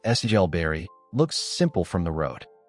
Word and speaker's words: Silbury: Silbury Hill, pronounced Sigel Berry, looks simple from the road.